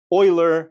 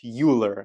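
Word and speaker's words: Euler: Don't be a math degenerate and pronounce things reared on purpose. It's remon, not Ryman. It's Oiler, not Uler.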